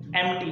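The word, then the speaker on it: empty: Pronunciation भी, honest, starting H से हो रहा है, ऑनेस्ट, एम्प्टी, पी है लेकिन उसका साउंड ही नहीं है, मतलब समझ लो।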